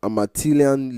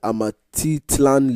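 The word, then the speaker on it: Amatitlán: organization to tidy up the Amatilian Lake. I hope I pronounce it properly. It's the Amatitlan Lake. Amatitlan Lake, yeah.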